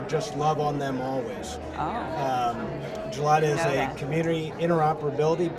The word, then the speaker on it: Julota: Julota, Yes, say it right?